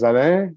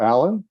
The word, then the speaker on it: Alain: as as hannah mentioned my name is zane or alan for those of you who don't want to hurt themselves pronouncing my name and norm